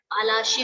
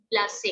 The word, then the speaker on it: Plassey: जैसे battle of पालाशी को दे pronounce it एज Plassey, ठीक है, बैटल ऑफ प्लासे।